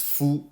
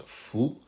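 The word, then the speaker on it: 夫: Fu, this character is often pronounced as Fu, meaning man, but here it's pronounced Fu.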